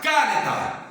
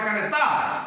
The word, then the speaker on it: caneta: Você nunca fala caneta. Caneta, vem cá. Você fala canetar? Não, você fala canê. Está no nê.